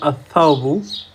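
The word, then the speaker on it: الثوب: অনুরূপভাবে পয়টা যদি খেয়াল করি, আথাউবু, আল থাউবু, এই সুকুনটা থাকে গিফট করেছে, গিফট করলে সাটা দুবার উচ্চারিত হবে, সেক্ষেত্রে হবে আথাউবু, আথাউবু।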